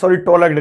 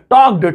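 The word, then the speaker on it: talked: टॉक की तीनों forms, टॉक, टॉलक्ड, टॉलक्ड नहीं है, टॉक्ड, टॉक्ड। एल आ रहा है ना, वो पढ़ा जा रहा है, वो साइलेंट है, मुझे पता नहीं था, इंग्लिश वीक है मेरी।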